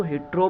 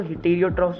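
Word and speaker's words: heterotrophs: अब मैं तो हेटेरोट्रॉफ्स बोलता हूँ जब से मैंने पढ़ना शुरू किया, बिकॉज बीच में ई आता है टी के बाद।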